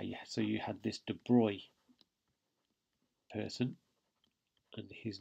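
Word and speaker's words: de Broglie: had this guy yeah so you had this Detroit person his name is smelt like that abruptly but it's pronounced Detroit and he basically said well why couldn't it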